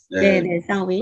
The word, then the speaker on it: Samhain: 진짜 이름은 셔윈이군요. 셔윈. 네, 사윈. 그리고 이제 뭐 적어놓은 스펠 그대로 읽으면 이제 삼해인이든지 삼하인이든지 뭐 그렇지만 미국에서는 그렇게 발음하는 사람이 없는 거죠.